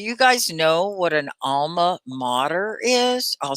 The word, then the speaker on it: alma mater: alma mater do you guys know what an alma mater is i'll spell it in the comments alma mater is how you say it let's say it